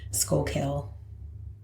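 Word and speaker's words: Schuylkill: say it like the what's the other one that I like to say that's out that way skull kill yeah yeah I think that's how you say it that is how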